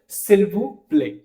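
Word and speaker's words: s'il vous plaît: टी साइलेंट हो जाएगा, तो यहां पे कह सिल्वू प्ले। एस साइलेंट क्यों हो रहा है, क्योंकि वॉवल के बाद एस है, तो उसको हम साइड नहीं करेंगे यहाँ पे।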